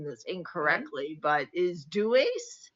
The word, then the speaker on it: Deus: Yes, because the Latin word for God is, now I may be pronouncing this Mhm. incorrectly, but is Deus? Deus.